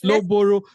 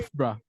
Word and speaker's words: Loughborough: Let's Loboro. No, you have to pronounce that thing again. Loboro. What's that? Lambs, I'm It's sorry. Loughborough.